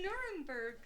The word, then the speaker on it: Nuremberg: It rhymes with blurberg. Beautiful packages have arrived. What the was that? Anyway, the Nuremberg trials is when they were Yes.